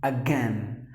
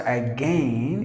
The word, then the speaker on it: again: All right, so next word is, the letter I is actually silent. So you have to pronounce the word as again. Again, not again.